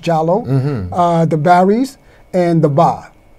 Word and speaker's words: Diallo: the Souls, the Jallos, you say the Diallo, like Amadou Diallo, the Souls, but it's pronounced Jallo, the Barrys, and the Ba.